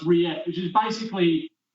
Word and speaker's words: rillette: So even though it's spelt, and my best mate called it rillette for ages, it's spelt rillette, but the L's are silent, so it's rillette, which is basically like potted meat or a kind of chunky pate.